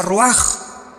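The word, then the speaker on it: רוח: Se pronuncia roaj.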